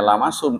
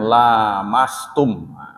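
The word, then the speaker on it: لامستم: orang menyatakan lamastum disini bukan bukan dibacanya lama sum tapi Hai alamnya panjang lamastum lama stubbe Danya apa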